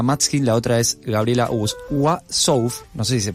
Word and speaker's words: Uassouf: Y además tenemos el agrado de tener aquí a una de las directoras, Martina Matskin, la otra es Gabriela Wassouf, no sé si se pronuncia así. Wassouf, ahí está.